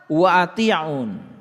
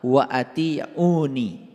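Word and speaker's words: وأطيعون: Fattaqullaha wa ati'un. Nah ini sebetulnya dibacanya harusnya fattaqullaha wa ati'uni. Dibacanya harusnya begitu.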